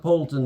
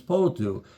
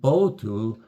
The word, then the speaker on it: Pouttu: And he said, no, it's not Poulton, it's Pouttu. And of course he's speaking to an English person, and the English person, Pouttu, it's a very strange sounding name. And see, when I'm pronouncing it with an explosive P, Pouttu, it's not even that way. There is no B in the Finnish alphabet. And so Pouttu comes out more like Botu.